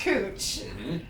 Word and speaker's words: Couch: have a street that's spelled couch c-o-u-c-h but it's pronounced cooch and then that's more